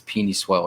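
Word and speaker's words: Penei Sewell: this kid i think you pronounced it wrong did i yeah i think it's peeny swell right beanie swelling yes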